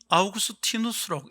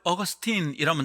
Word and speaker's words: 아우구스티누스: 아우구스티누스는 아우구스티누스라고 읽어야지. 그 사람을 어거스틴이라면 자기를 부르는 줄 모를 겁니다. 켈빈이 아니라 깔뱅이라고 읽어야 자기를 부르는 줄 알고 그 사람의 이름에 합당한 발음이 될 겁니다.